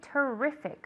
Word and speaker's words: terrific: Terrific. Okay, the intonation is on the E.